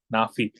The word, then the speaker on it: Naafie: I'm here with, you pronounce your name Naafie, right? Yup, so it's Naafie. So it's nah like hell nah, and then fee like paying a fee. So Naafie.